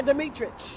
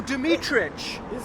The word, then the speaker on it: Demetrich: Yeah, Dimmitri. Oh, Dimmitri. Oh, that's pronounced that.